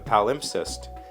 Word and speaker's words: palimpsest: out to be a palimpsest covering a text nearly 1,000 years old. Palimpsest. P-A-L-I-M-P-S-E-S-T. I feel like I'm pronouncing that wrong, but the pronunciation guide puts the emphasis on pal.